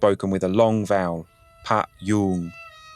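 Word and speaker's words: พยุง: En thaï, ce palissandre s'appelle Payoong, prononcé avec une voyelle longue, Pa-yoong. Le mot pour soutenir ou étayer est payoong avec une voyelle brève.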